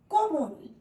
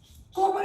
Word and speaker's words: কোমল: এরপর হচ্ছে কোমল। কোমল শব্দের অর্থ কি? নরম। অনেকে ভুল করো, লিখে আসো পদ্ম। পদ্ম যেটা, সেটা হচ্ছে কমল। অনেকটা কাছাকাছি হলেও দুটো উচ্চারণও কিন্তু একদমই আলাদা।